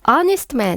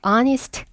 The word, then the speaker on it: honest: honest 마찬가지로 H 발음 나지 않아서요. honest A a unhonest man 정직한 사람이란 뜻이죠.